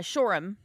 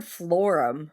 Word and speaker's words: Shoreham: even know how to spell it though, so it's not. It's the Wait. wait. Shoreham. Yeah, Shoreham. I heard Florum.